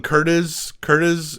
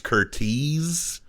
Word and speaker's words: Curtiz: And I called him Curtiz, and people online were like, it's Curtiz. And so now that's seared into my brain how to pronounce his last name.